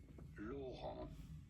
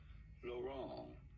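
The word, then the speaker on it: Laurent: In France, for reference, it is said as Lauron L. The T is silent. In English, it'd be fine to say it as Lauron.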